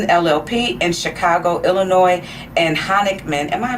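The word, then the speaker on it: Honigman: District Court for the Eastern District of Michigan, she was an associate at Sidley Austin LLP in Chicago, Illinois, and Honickman, am I pronouncing that correct?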